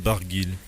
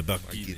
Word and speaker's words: Barguil: Warren Barguil. Yeah, you do pronounce the L at the end. There's a little L. Yes, we do. Yeah, Barguil.